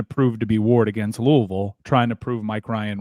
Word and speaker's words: Louisville: By the way, you relish the opportunity to pronounce that right. Louisville.